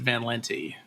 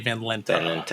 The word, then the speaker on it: Van Lente: fred just my family my family's always pronounced it van lente uh if we were in amsterdam it would probably be vandaling okay but you know